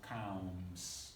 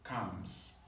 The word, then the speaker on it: calms: It's not calms. The L sound is silent. So calms, just like the verb C-O-M-E-S, calms.